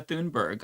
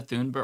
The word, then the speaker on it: Thunberg: We didn't talk about the gods of flotilla, but like shout out to um Greta Thunberg or Tunber. I think her name is Tunberg. I want to say that's how you pronounce it.